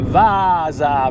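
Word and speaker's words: Vaasa: written but it is vasa because there is two a's between you and me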